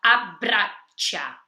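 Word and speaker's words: abbraccia: mana abrasha então tem quando tem essa doppia quando tenha dupla Alecrim ali você come um pouquinho a sílaba anterior errei e reforça a sílaba da própria então fica abrasha tá abraçá-la sua filha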